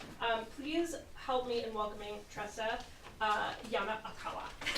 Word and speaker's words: Tressa Yonekawa: Please help me in welcoming Tressa Yonekawa. Thank you, and that was spot on. I spelled it out phonetically for her.